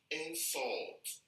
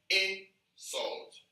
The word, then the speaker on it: insult: how to pick it now when these words are pronounced or when they are used as verbs they are pronounced differently from when they are used as nouns so now if you